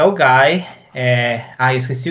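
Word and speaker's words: OGAE: A gente acha que é Ogai. Mas é Ogai.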